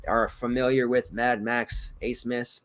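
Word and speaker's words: Abmas: familiar with Mad Max Ace Miss not AB Miss not Amos not abubimis it's Ace Miss spelled differently but that's how you say it we learned that two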